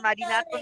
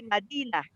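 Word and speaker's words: مدينة: Kalau orang Arab itu bacanya bukan Madinatun tapi Madinah.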